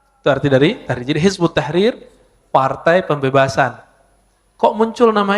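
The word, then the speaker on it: Hizb ut-Tahrir: Yang sering kita dengar beberapa waktu ini dengan nama Hizbut Tahrir ya. Dalam bahasa Arab kalau ditulis versi ee transasinya Hizb At-Tahrir ya. Tapi kalau dibaca hizbut tahrir. Cara bacanya begitu.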